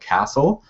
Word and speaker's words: CASL: So we're going to just call it Canadian Anti-Spam Legislation, and I pronounce that CASL because I like castles.